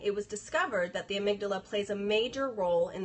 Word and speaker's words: amygdala: the gland called the amount Dilla I'm like I was messed that one up is amygdala amygdala that's it I read it all